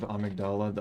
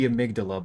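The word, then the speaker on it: Amygdala: But all right, after that pronunciation of Amagdala, I don't know. I know it should be amydala, but amagdala is how they pronounced it in the game.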